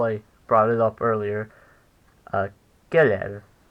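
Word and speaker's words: קֶרֶב: Kerev. It's 2 syllables long and has stress on the first syllable.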